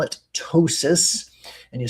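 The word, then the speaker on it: ptosis: We call it tosis. And you spell that, it starts with a P. The P is silent. P T O S I S. Tossis.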